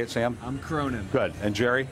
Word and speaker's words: Cronin: I'm Cronin.